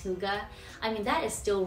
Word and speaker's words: hygge: You know that Danish style of living, hygge? I mean, you see it everywhere. It looks like hygge, but it's pronounced hygge.